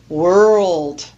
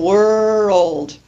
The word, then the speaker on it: world: English to pronounce is world because we have that very difficult consonant cluster r l d at the end and one of the